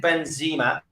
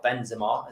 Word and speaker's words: Benzema: Do you think Benzema might fancy coming to us, or Benzema, as he should be pronounced?